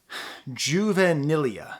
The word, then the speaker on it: juvenilia: say broken in half now I call this juvenilia juvenilea that's the way to pronounce it juvenile Juventus it still Bears a